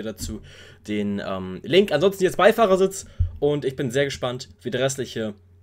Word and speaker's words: Beifahrersitz: Auch wie er Beifahrersitz nicht, wie, nicht normal betont, Beifahrersitz, sondern die Betonung liegt nicht auf dem Bei, sondern eher auf dem Fahr. Beifahrersitz.